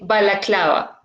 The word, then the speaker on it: balaclava: Yeah, in English you say balaclava.